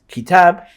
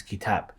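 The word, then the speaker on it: كتاب: Once you learn that the kaf and then the ta and then the alif and the ba should be pronounced as kitab, every time you see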